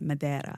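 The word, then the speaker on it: Madeira: And I said, "No, I'm going to Madiraa." And he said, "Mada." And I said, "Is that how you pronounce it?"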